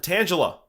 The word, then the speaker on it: Tangela: to pronounce it um I think you can pronounce it either way or tangel well there's an a at the end so you kind of you have to say that tangel a hey hey um but